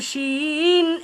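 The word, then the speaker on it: شين: যার উপরে তিন নুক্তা জিহিবার অগ্রপাশ তীঘ্ন করে জিহবার অগ্রপাশ তীক্ন করে তার বরাবর উপরের তার বরাবর উপরের তালুর সাথে মিলিয়ে তালুর সাথে মিলিয়ে সশ আওয়াজে আওয়াজে যার উচ্চারণ করতে হয় যার উচ্চারণ করতে হয় এর নাম শিন এর নাম শিন এর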